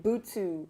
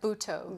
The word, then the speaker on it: butoh: um are trained in bootsu am i pronouncing it right butoh butoh yeah um which is something